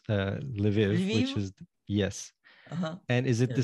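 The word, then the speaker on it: Lviv: know in manana uh an l will become a lei an s will become a she and this is how live is spelled it's l and then the soft sound and v i v so the closest that i can think of uh is leve so it's kind you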